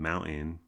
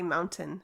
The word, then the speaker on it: mountain: dropping the T in mountain. But it sounds weird when you say mountain and you pronounce the T constantly. Although I think dropping the T in words is kind of a California accent.